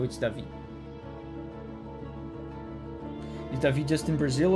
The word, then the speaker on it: Davi: So, if you don't know it's a person from Brazil or from Portugal, you would just say David even though it's Davi.